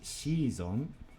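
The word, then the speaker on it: シーズン: Next, a season is just a shizon, same word, pronounced differently.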